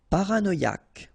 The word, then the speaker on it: paranoïaque: Paranoïaque. Okay, remember, Q-U-E, k, ac. Paranoïaque.